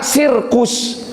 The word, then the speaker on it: circus: C yang pertama dibaca C, sir. C yang di tengah-tengahnya dibaca K, sirkus. Teu konsisten bahasa Inggris mah. Padahal ditulisnya mah dengan C saja, dua-duanya circus.